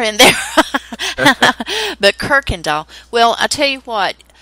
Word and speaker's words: Kuykendall: it uh it's pronounced kirkendal it's k-u-y-k-e-n-d-a-l-l it's dutch it's dutch german and the r um the kuy the y is pronounced r it's kirkendall yes i thought i